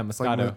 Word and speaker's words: Moscato: pronounce it m Moscato yeah Moscato it's like mosquito but it's a champagne uh with an a Moscato so deep thoughts